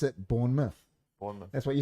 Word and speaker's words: Bournemouth: it spills born mouth but they pronounce it Bournemouth that's what you're saying Midlands not Midlands when I first went there I was saying Midland that's what I'm saying but they're like born man it's pronounced born myth yeah but it spells born now once you